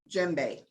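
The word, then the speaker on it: djembe: this is a toca gembe all right you don't it's print it's spelled d g a d j e m b e you don't pronounce the d so let's take a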